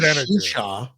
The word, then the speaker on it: Xuxa: Well, remember Shusha? Do you remember Shusha in the 90s? No. XUXA. It was like this blonde, like Polish woman. Okay. It was Shusha, and it was XUXA.